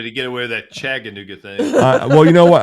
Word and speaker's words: Chattanooga: because I can't say Chattanooga. That's why I'm here. Hey, it's not a G or a D. It's a Chattanooga. You know what? Actually, down here, they pronounce it like it's a D.